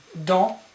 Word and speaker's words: dans: Then we have dans. Dans. Dans means in, inside. Okay? Dans. You don't pronounce the S here. Dans.